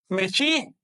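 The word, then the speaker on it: Mēxihco: Su pronunciación correcta en náhuatl es Mexico. Pero su escritura, la escritura de los curas, fue Mexico. Así lo escribieron ellos.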